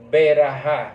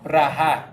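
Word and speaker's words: ברכה: dice la gente dice la gente dice beraja beraja pero en hebreo es br br braha es Ah pues que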